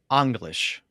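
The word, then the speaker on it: Englisc: English in Old English so in Old English it would be well probably be anglish okay Ang the the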